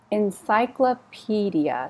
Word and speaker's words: encyclopedia: on-off author magazines magazines encyclopedia so the stresses on the piece Encyclopedia comics comics subscribe subscribe